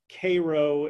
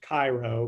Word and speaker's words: Cairo: is then why doesn't cairo illinois which should be pronounced cairo but uh the people of cairo want to differentiate themselves from from residents of the middle east why doesn't cairo illinois